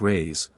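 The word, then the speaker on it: réis: from the Portuguese pennies or Reese pronounced rays are prodigious it takes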